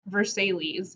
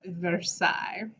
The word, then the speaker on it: Versailles: it's insane now it's not spell it's not pronounced versailles it is pronounced versailles it's the fringe and it's gorgeous and huge